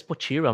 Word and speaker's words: Potira: Ah, a gente fala às vezes potira, mas a definição desse nome, a pronúncia, ele não precisa seguir eh os padrões da língua inglesa, tá? Eu posso falar simplesmente potira, porque é um nome próprio, nós não precisamos se preocupar com isso.